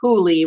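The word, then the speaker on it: Whooley: husband so um but it's pronounced huli with the silent w okay you quit facebook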